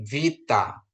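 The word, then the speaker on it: βήτα: Jadi kalau di sana bacanya F ya, Fanta untuk kata Fanta, alfa gitu ya. Terus ini vita, vita gitu ya.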